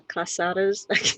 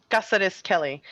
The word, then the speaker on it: Cázares-Kelly: call you recorder because the casadas i'm not saying it right quesada's kelly or or just is fine and it's it's cassidus kelly uh casares kelly bison uh good day